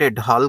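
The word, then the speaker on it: Dahl: According to Robert एडाल, कुछ लोग इसको रॉबर्ट एडाल कह देते हैं, कुछ लोग इसको रॉबर्ट एडाहल कह देते हैं, अलग अलग प्रोनाउंसिएशंस हैं।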